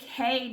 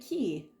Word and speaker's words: Castaway Cay: Today is Castaway K day. Or is it key? I don't know. I've heard it pronounced both, even by the cast members. We're going to say K.